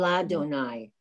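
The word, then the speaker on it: לַאדֹנָי: Ladonai, la. You have to pronounce the lamed.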